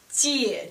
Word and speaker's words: 姐: Third tone has two parts. Down, up. Down, up. So it implies it comes with two parts of the pronunciation. Like do one example. 姐姐 older sister.